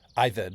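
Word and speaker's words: עבד: The Hebrew word there is ibed. ived is how you say it.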